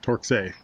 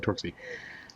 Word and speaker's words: Torksey: should I not talk ski and I kept pronouncing it torque say today talk say because that's what I've heard somebody say yeah I'm sorry spelling of torque safe but it's active torque see and over here and it was actually the